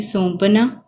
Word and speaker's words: سونپنا: سب سے پہلے دیکھیں، سونپنا، سین زبر واو، واو کے اوپر کچھ بھی نہیں آئے گا، آواز جاری ہے۔ نون کے اوپر ساکن